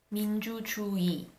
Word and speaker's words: 민주주의: However, when the 의 is not the first syllable of a word, then it is pronounced as e. For example, 편의점 would be pronounced as 편의점. 민주주의 can be pronounced as 민주주의.